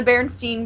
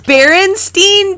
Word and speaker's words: Berenstain: Let me ask you, Kristen, how did you pronounce this? No. Yeah, I was in the Berenstein Bears. Berenstain Bears.